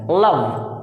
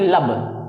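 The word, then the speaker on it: love: यानी जब एल बोलते हैं तो आपकी जुबान यहां जाती है, लव ना कि लब। लब ये होंठ नहीं सटेंगे, ठीक है।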